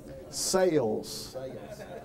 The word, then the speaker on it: cells: In fact, I have to tell you right off the bat that in the South, the word cells is a two-syllable word. Sales.